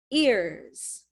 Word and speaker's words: ears: years yes yesterday years so there's a y sound yeah yeah like the second word here we said number two is young years this one is ears there's no y sound it's similar but this